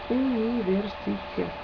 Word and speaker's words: университет: Universitet. It sounds just like university, which is what it is.